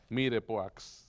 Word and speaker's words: mirepoix: Y todos esos fondos tienen como base un mirepoix. ¿Qué es lo que estoy haciendo? Que es una combinación de zanahoria, cebollas y apio. Mirepoix. Se escribe. Mirepoix. Vamos a cortar una zanahoria. No, mire, es mirepoix.